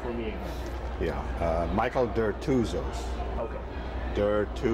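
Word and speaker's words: Dertouzos: junk right um let's start with uh you pronouncing your name for me again yeah uh Michael deros okay derus diros diros and uh uh tell me your your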